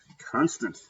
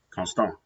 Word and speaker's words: constant: Constant. Constant. The same word, except it's pronounced totally differently, right? Constant.